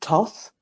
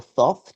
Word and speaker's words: Thoth: Egypt, I mean, the primary one that's associated with wisdom or the magician type energy is Thoth or Thoth, depending upon how you want to pronounce it.